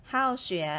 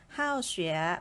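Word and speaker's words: 好学: ๆ เลย แปล ว่า How sheer นะ คะ คือ ตัว เห่า ตัว นี้ ออก เสียง 4 นะ คะ ไม่ ใช่ เห่า เสียง สาม นะ คะ How sheer เป็น คำ ศัพท์ หนึ่ง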